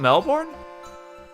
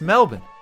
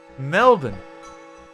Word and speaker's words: Melbourne: in the middle wait it's not melbourne it's melbourne mel jason bourne melbourne i never knew that